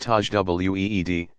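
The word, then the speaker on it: تجويد: an elaborate and demanding style called tasmat pronounced Taj w ee d embellished excellent is called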